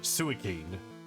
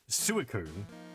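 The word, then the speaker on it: Suicune: In my head, I've always pronounced it suicen, but it's suicun.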